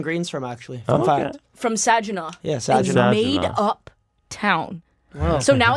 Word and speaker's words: Saginaw: the city in Michigan oh yeah I can't pronounce words so it's tech it's Saginaw Saginaw nah I don't think sad you know